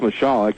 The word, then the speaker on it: Michalek: It's pronounced Michalek if you heard the PA guy mispronounce it.